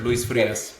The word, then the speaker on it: Luis Frias: Uh, Luis Frius with Calteex. How are you today? Doing good. And yourself, Craig? I'm doing well, thank you. Did I get the pronunciation right? Yes, sir. Luis Fas.